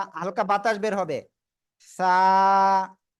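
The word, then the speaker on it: ث: ওকে, আমরা কি বলতেছি দেখেন, জিহ্বার আগা সামনের উপরের 2 দাঁতের আগায় লাগাবো। সবাই লাগান, লাগে এখন উচ্চারণ করব। সা, সা। একটু বাতাস বের হবে, সবাই এরকম হাত দিয়ে দেখেন বাতাস বের হচ্ছে কিনা।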